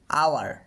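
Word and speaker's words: hour: ঠিক তেমনি করে আওয়ার, খেয়াল করো এই যে উচ্চারণটা করছি এটা দিয়ে উচ্চারণ করছি আওয়ার, তো অবশ্যই এর পূর্বে আমরা অ্যান ব্যবহার করব, নিয়ে বলবো অ্যান আওয়ার এক ঘন্টা।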